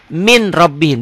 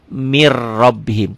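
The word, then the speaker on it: مِنْ رَبِّهِمْ: Min rabbihim dibacanya mir rabbihim. Ketentuannya setiap huruf mati ketemu huruf bertasdid. Ini ada tasdidnya ya kalau dalam Quran. Setiap huruf mati ketemu huruf bertasdid, huruf matinya jangan dibaca.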